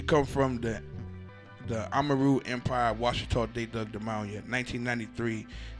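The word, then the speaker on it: Ouachita: If you ride through Louisiana on I-20, you go through Washita proper, and it's spelled with an O-A-C-H-I-T-A because the French, Marquis Maison Rouge,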